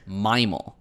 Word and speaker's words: MIMAL: So western in this context means 17 specific states that are west of Mimal. Can anyone tell me what Mimal is or what that means? God, dude. You're mispronouncing mammal.